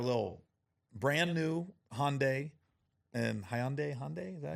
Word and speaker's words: Hyundai: And Hyundai, is that how you say it?